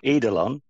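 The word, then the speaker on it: eidolon: like that pen and paper here we go edelon so it's e i d o l o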